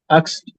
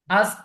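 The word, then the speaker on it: ask: এখানে আক্স যদি হয় তাহলে খে, এই খে এর উচ্চারণটা আগে আসছে, আক্স এস এর উচ্চারণটা পরে আসছে, কিন্তু জ্বালা এখানে জ্বলেছে এসটা আছে আগে। হ্যাঁ, এসটা হবে আগে।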